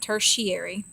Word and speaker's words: tertiary: like that it looks like tertiary but you pronounce it tertiary and these are the colors you get after